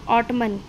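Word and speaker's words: autumn: है और याद रखना जब एम और एन एक साथ होते हैं तब वहां पर एन की साउंड साइलेंट हो जाती है तो यह क्या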